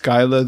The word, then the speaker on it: Skyla: One is that pronounced Skyla the Revenge? That's correct, yeah. That's exactly right.